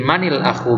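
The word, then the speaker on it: مَنِ الأخ: Nah, jadi manil akhu bacanya ini karena sukun ketemu sukun. Sukun di kata al akhu dan sukun di alif ini, alif al akhu, kemudian sukun di nunnya.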